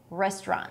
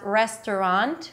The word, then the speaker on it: restaurant: You can pronounce it as restaurant with three syllables, but I like the two-syllable pronunciation, restaurant.